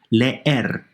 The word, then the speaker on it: leer: Leer, to read, 2 syllables. They don't combine.